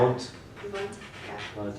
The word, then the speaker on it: Wundt: say his name, but is it Bunt or something like that, when he started, he established psychology, That's what one of them said. English or German would be Yeah. Wundt.